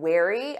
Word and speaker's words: wary: or certain about something or someone she was wary of strangers offering help after her previous bad experiences investors are becoming wary of the potential risks in the market let's